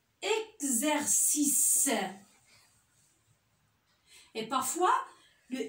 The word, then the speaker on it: exercice: Et des fois, le X se prononce Gz. Comme exagéré. Exercice.